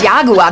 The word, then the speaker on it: Jaguar: Hier ist eine Abrechnung für einen nagelneuen Jaguar. Für ein was? Einen Jaguar. Hast du zu heißen Tee getrunken? Es spricht sich Jaguar. Dies ist Amerika, du Klopskopf. Jaguar.